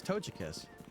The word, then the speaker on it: Togekiss: Yeah, it's Togekiss.